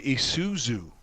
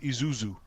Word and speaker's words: Isuzu: people couldn't even say Isuzu remember when that car brand was popular Isuzu they said Isuzu Isuzu they mess up the S and the Z yeah they're pretty rare